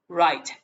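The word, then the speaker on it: write: เสียง ว่า ไร่ แปล ว่า เขียน นะ ครับ right แปล ว่า เขียน hanzomon ไป นะ ครับ ร้อย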